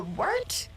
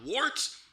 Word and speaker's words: wort: The wort? Yeah, okay, I'll do that again. This is The Wort on Govs Radio. It is the Wort. Not wart, not fort, not short. The Wort.